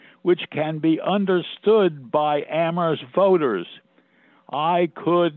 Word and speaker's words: Amherst: That aphorism referencing Amherst as the town where only the H is silent would have made no sense then, because it was a very silent town.